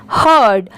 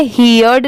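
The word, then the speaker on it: heard: morning H ई ही हर्ड इसे हियर्ड नहीं पढ़ेंगे इसे क्या पढ़ेंगे हर्ड एच ई ए आर डी इसकी प्रोनंसिएशन है हर्ड आप इसकी स्पेलिंग जरूर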